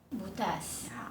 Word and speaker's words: butas: Similarly, Filipino is a language with stress. If you read the stress incorrectly, the meaning changes. Okay, let’s take a look at the left side and the right side. They are corresponding tables, but their stress is different. hole (bútas) perforated (butas) One is bútas; one is butas You see, they are different.